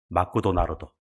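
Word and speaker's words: マクドナルド: 일본 와서는 일본식 발음합니다. 맥도날드 뭡니까? 마쿠도 나루도.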